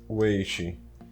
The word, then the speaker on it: weight: Vamos colocar um font size de 25, um font weight bold e chamo de font weight, mas é font way, né? A pronúncia correta.